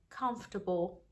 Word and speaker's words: comfortable: And sometimes it's silent, we say comfortable.